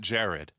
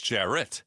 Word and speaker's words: Jarrett: I like this one better because my name is not Jared. It's Jarrett.